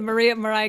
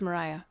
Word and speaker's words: Mariah: Oh Holy Night the Mariah Carey version yeah oh yeah yeah yeah yeah gotta go like that you say Maria I say Mariah it is Mariah okay you say it